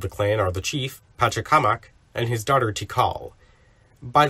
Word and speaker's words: Pachacamac: people pronounce it as Pachacamac, but I prefer to say it with an inflection as they do in Peru, since he's actually named after an Inca village.